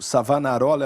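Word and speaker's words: Savonarola: ele era um estudante do savanarolla isso mesmo savanarola é o nome dele eu tenho que pronunciar correto porque minha esposa é italiana eu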